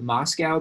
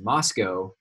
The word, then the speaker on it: Moscow: Don't ever pronounce it Moscow, by the way. Any of you from northern Idaho know this, but I did, and people laughed at me. It's pronounced Moscow, not Moscow, whatever.